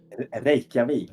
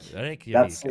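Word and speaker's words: Reykjavík: Again, this is David with CCP Games based out of is it pronounced Reiki or Reikavik? Reikavik. Reikavik.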